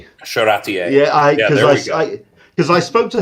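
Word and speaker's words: Charretier: And I think I'm pronouncing that right. Charatier.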